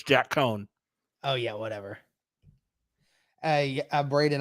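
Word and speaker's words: Coan: Is it possible that Cohen could Don't mispronounce my man's name. Don't do it, Derek. Don't even start. It's Jack Cohen.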